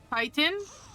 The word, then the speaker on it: chitin: her going you know I actually uh never knew how to pronounce uh chitin before I learned that for the video by the way Titan really yeah yeah I was always unsure of how to pronounce it I called it chitin before are they close so